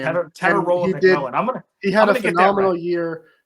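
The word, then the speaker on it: Tetairoa McMillan: Teteroa McMillan is his name. Teteroa McMillan.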